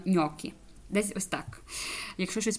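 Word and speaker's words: gnocchi: G і N воно воно як читається нькі нькі вот G і далі І тут ми будемо використовувати нунь бо це є множина бо це ми чуємо ньокі і закінчення та їньокі говориться їньокі От глі ну тобто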